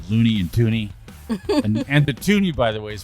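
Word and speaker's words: toonie: with money called Looney and tuny and the tuni by the way is spelled t o o n i e I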